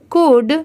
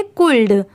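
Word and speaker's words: could: अब जैसे देखिए यहां पर तो एल भी दिया हुआ है बट यहां पर एल की साउंड नहीं आ रही है। यहां पर जो लिखा हुआ है अगर हम उसे प्रोनाउंस करें सी ओ यू एल डी तो इसे हम प्रोनाउंस करेंगे कुल्ड। कुल्ड। ठीक है? बट इसे हम यहां पर क्या प्रोनाउंस कर रहे हैं? कुड। सी ओ यू डी कुड। यहां पर भी एल लेटर साइलेंट है।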